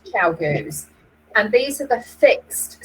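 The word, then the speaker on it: ChiaoGoo: Chiu-goos is it spelled, but I believe you pronounce chow-goos.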